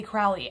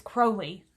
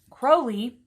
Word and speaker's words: Crowley: an ox but crowley i keep wanting to say crowley and i'm so sorry it's crowley crowley wrote in the book of